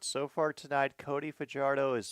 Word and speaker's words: Fajardo: They pronounce it Fajardo.